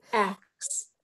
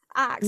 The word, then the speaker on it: Aks: Is that how the pronounced name? Aks. Oh, Aks.